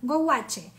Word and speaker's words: gouache: Lo voy a pronunciar así como bien latina. Gouache.